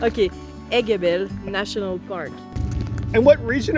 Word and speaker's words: Aiguebelle: Aiguebelle. I've been saying it right. Okay, Aiguebelle National Park.